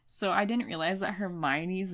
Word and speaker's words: Hermione: I didn't realize that Hermione's name was Hermione I always in my head I thought it was like hermoni or like I didn't I